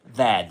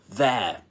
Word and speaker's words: there: So, this is how do you pronounce this word again in southern standard British English? That's there. There. RP there. There as a dip thong.